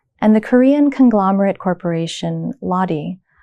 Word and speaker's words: Lotte: And the Korean conglomerate corporation Lotte, pronounced Lotte in Korean, commemorates Charlotte or Charlotte of German writer Goethe's famous novel of unrequited love, The Sorrows of Young Werther.